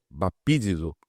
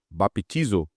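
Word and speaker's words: baptizo: A palavra aí grega, né, bapidiso ou baptiso, dependendo da pronúncia, significa mergulhar repentinamente, immergir, submergir de embacações afundadas por naufrádios e etc.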